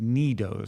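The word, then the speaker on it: Nee Doh: squish toys called Nedos, or pronounced Nidos. So it's spelled N-E-H, but it's pronounced Nidos.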